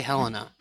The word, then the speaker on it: Helena: see the state capitol, which I've heard pronounced both Helena and Helena. I was going to ask you if you were going to say Helena or Helena. I say Helena.